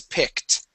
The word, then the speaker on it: picked: highlighted the word is picked okay that Ed ending will make a t sound picked try that please pick